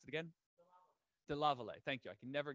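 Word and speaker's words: DeLarverie: never pronounce her last name could you please pronounce it again the lavalier thank you i can never get it right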